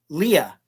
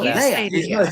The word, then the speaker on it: Leia: Jeff Caffrey, who's an actor, he always says Leah. It's no Leia. He always says Leah because the one general in A New Hope that says this plan brought to you by Princess Leia, and I'm like, no.